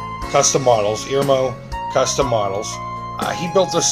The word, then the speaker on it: Irmao: Mike over it, and this is how he said he pronounced it, Irmao. Custom Models, Irmao Custom Models.